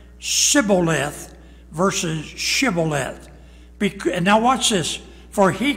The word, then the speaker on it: shibboleth: they said to abram say now shibboleth and he said siboleth sai s-i-b-b it had the h is not there siboleth versus shibboleth now watch this for